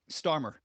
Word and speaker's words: Starmer: I think that's the weirdest part is like he stood there next to Sturmer or Starmer. How do you pronounce his name? Starmer.